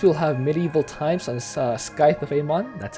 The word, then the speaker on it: Scythe of Amon: So next we'll have Medieval Times on Scythe of Amon, that's how it's pronounced, with Black Death and Transmutation.